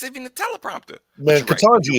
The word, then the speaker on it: Ketanji: Man, Ketanji is not a damn hard name to pronounce. It's not difficult at all. Listen. It's pronounced how it's spelled.